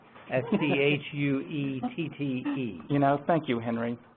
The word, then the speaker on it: Schuette: from yesterday and also teach us how to pronounce S-C-H-U-E-T-T-E?